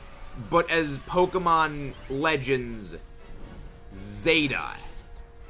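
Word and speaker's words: Z-A: it's a punt basically everywhere other than the US the letter Z is pronounced as Zed so it is supposed to be pronounced not as Pokemon Legends Za but as Pokemon Legends Zeta it's it's it's a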